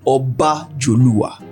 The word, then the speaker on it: Obajoluwa: So which is the correct pronunciation? It's Bajowa. And then it's actually the full complete pronunciation of it. The more complete way to pronounce it is actually Obajoluwa.